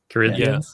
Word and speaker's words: Corinthian: If you remember first Corinthon Corinthan, how you pronounce? Corinthian.